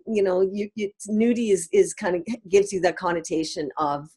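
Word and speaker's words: Noodi: And Nudie is spelled N-O-O-D-I, but there is a play on the word Nudie, and it's kind of also...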